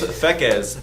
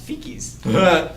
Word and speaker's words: Pheqes: Mine is Pheqes, Pheqes. Otherwise pronounced Pheqes.